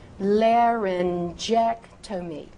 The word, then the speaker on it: laryngectomy: If that word begins with the letter G and is followed by the vowels E, I, or Y. E, I, Y. Use that J sound. Use that soft G sound.